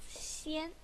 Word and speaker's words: 仙: And the pronunciation is xiān.